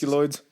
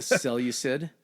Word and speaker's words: Seleucid: guy named Antiochus of the, I try to pronounce Seculoids? the Seleucid.